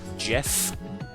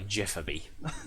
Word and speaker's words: GIF: The fact that um you don't know that the word is pronounced Jeff.